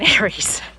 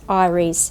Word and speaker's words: Eyeries: It's pronounced Iris, not Aries.